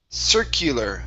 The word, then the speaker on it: circular: Next up, we have the word circular. Okay, so the U right here, this is going to be an eur sound. So circular. Circular.